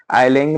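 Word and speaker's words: island: जैसा हो लेकिन आइसलैंड आइसलैंड बोलने में लोगों को फिर थोड़ा सा अजीब लगा तो बोलने के प्रचलन से वो हट गया लेकिन रिटन के प्रचलन में वो कंटिन्यू हुआ इसीलिए आइलैंड में एस साइलेंट होता है और इससे ज्यादा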